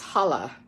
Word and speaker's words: challah: waiting my father makes challah Jewish braided bread I know that doesn't look like the word holla but CH is pronounced H in Yiddish or Yiddish Hebrew he lets me practice